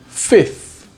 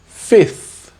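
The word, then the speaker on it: fifth: For this one, you don't need to pronounce the F in the middle, so that it sounds like 5th.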